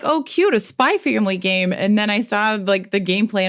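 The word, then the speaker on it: Spy×Family: spy X Anya operations you don't pronounce the X by Anya operation memories but there's an X there if you're Googling it um spy family um as I joked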